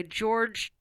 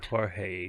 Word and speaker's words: Jorge: to attract my attention art by George tabanera Redondo pronounce that Jorge tabanero R good call yes